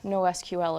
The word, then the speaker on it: NoSQL: Okay, so first, what is NoSQL, or NoSQL if you pronounce it that way?